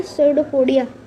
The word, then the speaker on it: pseudopodia: उसमें बहुत अलग अलग तरीके के ऐसे करके बहुत अलग अलग वो होते हैं जिनको हम लोग कहते हैं सूडोपोडिया। पी साइलेंट होता है।